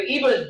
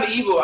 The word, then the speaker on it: Igbo: And we say Igbo most of the time, but the right pronunciation is IGBO. It's Igbo, which GB is an alphabet in the Igbo language.